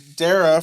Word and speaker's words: Dara: name is not zorg so Dara from Uber Dar is how it's pronounced if you've been listening